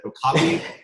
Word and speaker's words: okapi: So let's talk about it, and I'm going to butcher, is it Okapi? Yes, you said it right.